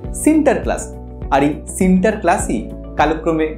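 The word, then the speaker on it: Sinterklaas: নিয়ে লেখেন নিউইয়র্কের ইতিহাসে অলুন্দজরা সেন্ট নিকোলাস কে উচ্চারণ করতেন সিন্টার ক্লাস আর এই সিন্টার ক্লাসই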